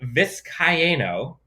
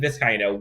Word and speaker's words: Vizcaino: But Tristan Vizcaino, I believe it's 4 syllables, Tristan Vizcaino won the kicking job.